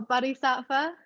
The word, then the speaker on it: Bodhisattva: And that brings me back to, I don't know how to pronounce it exactly, but the Bodhisattva, Oh, Bodhisattva?